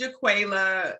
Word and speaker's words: Jaquela: Which is the right pronunciation? It's JR. You got it right. No, you got it right. It's Jaquela.